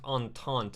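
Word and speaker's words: entente: and your drama oh antante is pronounced on taunt it's a french one okay all right gotcha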